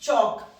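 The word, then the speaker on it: chalk: Next चौक, एल हमारा silent है, avoid करेंगे। चॉक, चौक, ओ वाली साउंड है, सेम, जे का स्ट्रोक, और ये के का स्ट्रोक, और ये आ गया हमारा थिक डैश।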